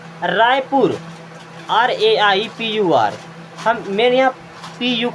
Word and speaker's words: रायपुर: रायपुर, RAIPUR, मैंने यहाँ PU को देख रहे हैं, PU तो क्या हो जाएगा?